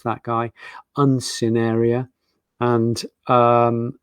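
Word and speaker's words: Uncinaria: That's how you pronounce that guy, Uncineria.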